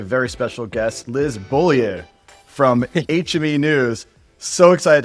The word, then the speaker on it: Beaulieu: And I'd actually prefer if you could pronounce it the way it should be pronounced. Beaulieu, which For means those who don't know, there it is.